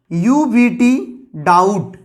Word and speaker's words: doubt: तो जैसे कि DOUBT, डाउट, हम लोग इसको डाउट पढ़ते हैं क्या, डाउट, बी साइलेंट है यहाँ पे।